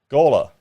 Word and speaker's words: Gawler: Is it Gawler or Gawler? Gawler. Of course, I'm saying it wrong.